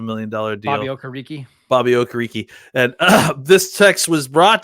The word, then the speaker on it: Okereke: way that is it's quite unexpected, except for Okereke, right?